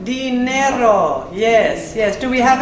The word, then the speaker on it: dinero: We have Dinero. Dinero.